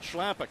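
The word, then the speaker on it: Chlapík: I asked Philip Schlapik, who's from the Czech Republic, how to pronounce your last name, and he said, you will pronounce it Schlapik. I said, no, how do you say it in the Czech Republic? And he said something. I said, Schlapik it is.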